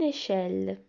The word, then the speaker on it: échelle: E, L, L, E se prononce elle. Une échelle.